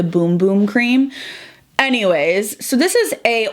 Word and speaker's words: Bum Bum Cream: me over that the bum bum cream or the boom boom cream i've actually used to call it the bum bum cream but it's supposed to be pronounced the boom boom cream anyways so this is